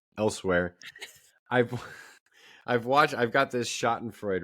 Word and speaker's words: Schadenfreude: I've I've got this Schadenfreude, right? Is that how you pronounce the German Yes.